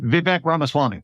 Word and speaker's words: Vivek Ramaswamy: When I heard yesterday that he asked Elon Musk and how do I pronounce the other guy's first name? Vivek Ramaswamy.